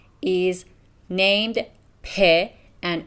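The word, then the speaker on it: پ: persian letter is named pe and it is pronounced like p in english the form of the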